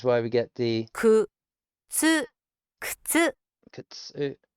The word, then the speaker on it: 靴: Which is why we get the くつ靴 kutsu. It almost ignores the u.